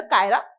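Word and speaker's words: Cairo: Egypt का जो capital है वो कैरो है ना, इसे हिंदी में कैरो और इंग्लिश के अंदर कायरा पढ़ते हैं।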